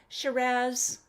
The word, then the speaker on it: Shiraz: Of course, we know Shiraz, pronounced like pizzazz, Syrah, even though it looks like Syrah.